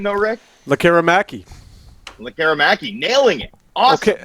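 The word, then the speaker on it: Lekkerimäki: Lecker-Mackey.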